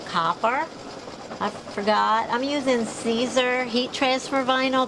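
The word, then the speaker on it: Siser: I forgot I'm using Caesar heat transfer vinyl that's s i s e r it is pronounced Caesar and I'll see if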